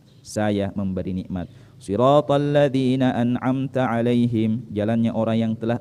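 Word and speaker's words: أنعمت: contoh misalnya kesalahannya ya kata an'amta ya dibaca menjadi hantu ya kesalahan ini merubah makna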